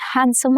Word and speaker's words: handsome: He's a very handsome actor. Consonant clusters simplify in spoken English. The D is dropped here.